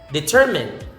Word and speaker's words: determine: Determine. Determine, not determine, but determine. So the stress is in the second syllable.